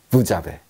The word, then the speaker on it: vous avez: 그래서 부즈라고 하고 그냥 부라고 하는데 뒤에 아베랑 붙을 때는 자베가 됩니다. 그래서 합치면 부자베, 부자베 이렇게 이야기합니다.